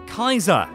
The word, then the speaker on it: Caesar: cosplayers they're led by Caesar because of course but Legion members pronounce it as Kaiser this is because in Latin the seas are hard which is the sentence